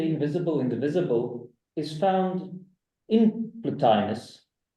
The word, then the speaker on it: Plotinus: indivisible is found in platinus in my mind I kept pronouncing it plottin that's what's beneficial to